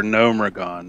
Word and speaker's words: Gnomeregan: their charges for cosmodon yeah they say for gnomeregan they actually pronounce that so it's it's official okay we